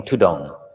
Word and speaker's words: tudong: monks so dutanga became tudong the thai word the derivation or the way it's pronounced is tudon so forest monks began